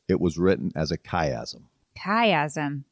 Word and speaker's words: chiasm: In the case of Leviticus, it was written as a chiasm. Chiasm. Spell that, please, and then tell us what it means.